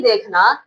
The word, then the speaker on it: the: आपने यह देखना है कि जो वोवेल साउंड देता है लेटर उसके साथ में आपने क्या करना है? दी प्रोनाउंस करना है।